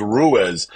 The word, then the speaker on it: Ruiz: Rue, I've been pronouncing it Mr. Rue the whole time. Like, I'm like, I call Mr. Rue. That's what I always thought. And then he's like, "No, dumbass. My last name's Ruiz.